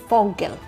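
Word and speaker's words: Vogel: V sounds like F while W sounds like V. Example, fog meaning bad. Foggle and vasa meaning water.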